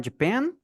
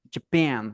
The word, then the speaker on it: Japan: one Sam JP ah Japan Japan Ok a sílaba tônica na segunda OK tá bom Japan